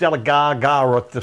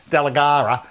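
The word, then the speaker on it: Dalgaranga: Now, they're saying it right. It's Delagara, something along those lines. It's a little hard to pronounce that one.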